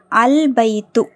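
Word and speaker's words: البيت: த காட் அந்த கட்டில் அல்பைத்து அல்பைத்துலாம் உச்சரிக்கப்படுது சோ அப்ப பாங்கறது கமரியாுடைய எழுத்து அல் பைத்து ஓகேங்களா அந்த வீடு நெக்ஸ்ட் நெக்ஸ்ட்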